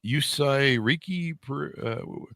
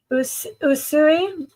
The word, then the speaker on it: Usui: thank you so much thank you am I pronouncing the US yusai people are gonna write me so help me Usui Macau usui is a from Japan oh really